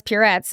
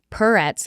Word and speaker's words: Puretz: So then I was that's why I'm saying it's Purettes like Purel so that no one ever says it rhymes with Tourette's anymore.